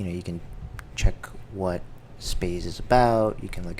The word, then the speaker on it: Spaaze: review of space um I first pronounced it Spas but evidently it's pronounced space like space hence the rocket ship so if you go